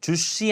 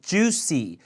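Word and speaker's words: juicy: 때 juy and tender 주시 아니고 juy 주에요 주시 ender 연하다는 얘기죠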